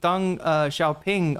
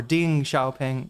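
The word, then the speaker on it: Deng Xiaoping: I'm saying I'm trying to say it correctly for uh everybody who says Deng uh or Ding Xiaoping.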